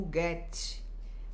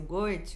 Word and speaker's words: Goethe: Ou Goethe. Muitos pronunciam assim, tá? Mas na verdade escreve-se Goethe, tá bom? Mas como é alemão, né? Muitos pronunciam Goethe ou Goethe, enfim, é meio complexo de pronunciar, mas esse nome é